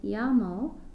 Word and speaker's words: llamo: to see pronunciation notes the double-l in spanish when two ELLs are back-to-back it's going to make a why sound so when you say llamo like me llamo Sarah it actually sounds like you're saying it